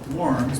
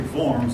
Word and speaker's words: Worms: Eventually, now this looks like it should be pronounced Worms, but it's actually Worms in German.